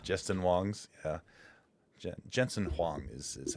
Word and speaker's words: Jensen Huang: Jason uh uh uh Jensen, how do they pronounce his name? Wongs. Wong. Wong. Wongs. Wongs from the other uh Jensen Wongs. Justin Wongs. Yeah, Jensen Huang is is how it is actually spelled or pronounced.